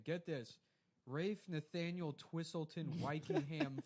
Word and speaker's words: Ralph: his whole name get this Rafe Nathaniel twistleton wiing ham f n yes yes